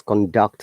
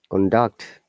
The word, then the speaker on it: conduct: Okay, so which is why as I always conduct lessons, conduct. Remember, conduct is noun, conduct is verb, lower intonation to upper intonation, and I try to